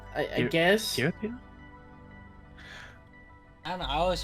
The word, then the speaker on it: Giratina: Oh, Giratina. That was Giratina. That was a hard G. I guess. Giratina?